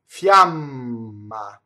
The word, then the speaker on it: fiamma: Fiamma. So notice that the I in this case is a sglide semivowel, right? Fiamma. You'll see that written in IPA as a J, right?